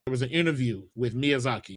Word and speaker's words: Miyazaki: When Elder Ring was coming out, there was an interview with Miyazaki. Oh yeah, that's his name by the way. That's how you pronounce.